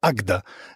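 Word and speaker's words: Águeda: minut od oceanu Atlantyckiego to się nazywa agda Pisze się agueda Ale ja się dowiedziałem że się czyta agda właśnie z Wikipedii No już byłem Przygotowany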